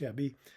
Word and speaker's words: Ebbe: A week after its release, the screenwriter Ebie Rose Smith, that's EBBE, I assume it's pronounced Ebie, he gave his interpretation of what Falling Down was about.